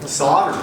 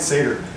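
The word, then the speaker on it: Sadr: Is it Satyr or Saturn? That's star in Cygnus. Who knows how to pronounce it? No one's willing to come up. Is it Saturn? Solder. Oh, wow. I've been calling it Satyr.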